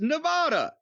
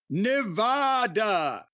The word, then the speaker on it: Nevada: Nevada Mr cornet please it is not Nevada is it neev a wwd ah it's Nevada NE V A A D ah I mean not spelling but pronunciation I think that's wrong too well he says a is in McMahon not a is in Khan